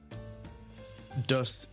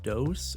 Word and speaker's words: Does: what that means oh that's because you're saying it wrong oh and that too it's supposed to be dose 1 through 10 in legal terms meaning multiple unknown individuals but publisher as well